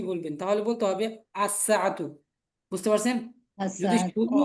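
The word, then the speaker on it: الساعة: আচ্ছা সবাই মনে রাখবেন, শুধু ঘড়ির উচ্চারণ করতে হবে যে আস-সাআতু, বুঝতে পারছেন?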